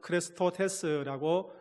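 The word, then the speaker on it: χρηστότης: 뿐만 아니라 헬라어 신약 성경에는 크레스토테스라고 발음합니다.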